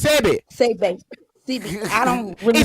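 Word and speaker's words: Sebi: You said CB. SCBIA. You said CB. Sebe. It's Sebe.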